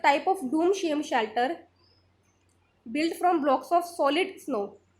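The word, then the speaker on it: chalet: तो ये होता है शैले, इसकी प्रोनाउंसिएशन होती है शैले।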